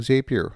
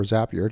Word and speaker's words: Zapier: They introduced integration with a whole host of new applications, including Zapier, or Zapier, depending how you like to pronounce it.